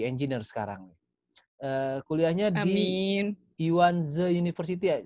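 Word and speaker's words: Yuan Ze: Yuanze University ya. Bacanya Yuanze ya, Mbak Novi? Kalau bahasa Yuanze. Inggrisnya Yuanzi University, tapi bahasa Mandarinnya Yuanzi Dashi, ya Oke.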